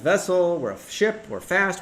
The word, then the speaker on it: VSSL: It's pronounced vessel.